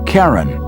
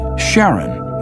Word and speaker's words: Charon: christie suggested the name karen after the ferryman of Pluto's underworld in greek mythology but preferred to pronounce it sharon more like his wife's name charlene from the motions of